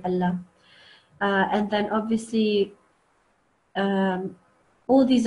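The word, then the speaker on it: الله: And if it's preceded by a kasra, then we just say it normally, not in a thick way. We just say Allah.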